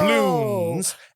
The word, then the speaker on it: Bloons: Is something called Bloons. Can you spell that? Bloons. Bloons. Okay. Bloons. Is it like apostrophe? Is it like doubloons? No, it's like apostrophe as in balloons. Oh. Bloons.